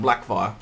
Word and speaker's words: Blackfyre: for that it's print it's spelt black fray the pronounced black fire and kind of sounds better black fire the Blackfyre rebellion come